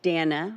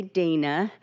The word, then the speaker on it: Dana: That's Dana, rhymes with banana. Don't say Dana.